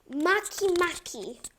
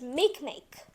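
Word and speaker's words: Makemake: are going to cover today its name is Maki Maki or also pronounced as M make but I like to pronounce it Maki Maki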